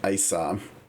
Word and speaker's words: Ayishah: It It almost It almost sounds like the first H is silent, too.